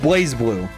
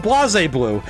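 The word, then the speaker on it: BlazBlue: it that way and that is the title of blaze blue which they used to call it Bas blue and I'm thinking where's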